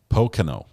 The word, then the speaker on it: Pocono: soon I think completely missed it Pocono Pocono Pocono I'll get it now and Pocono says basic